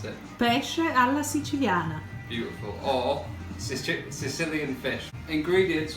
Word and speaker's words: Pesce alla Siciliana: to tell you how you're actually meant to pronounce it. Pesce alla Siciliana.